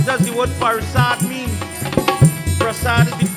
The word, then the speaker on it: Prasad: And when he heard that the prasad is ready, if somebody asks you, is a Hindu, what does the word prasad mean? Prasad is the correct word. Prasad is the correct word. Prasad is a mispronunciation.